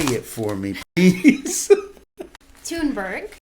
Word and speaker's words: Thunberg: Thunberg. Thunberg. All right. The H is silent. Thunberg. I know it throws everything off, doesn't it? Thunberg, especially when you're old and your eyes don't work.